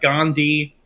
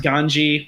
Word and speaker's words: Gandhi: got Newton we got Gandhi pronounced ganji which is pretty funny uh and in they